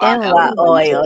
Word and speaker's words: NYOIL: Find me on Facebook under, aka NY Oil, NYOIL. NY Oil. That's That's how you it.